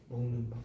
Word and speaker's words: 밤: 먹는 밤. 오케이. 먹는 밤 길게 발음해요.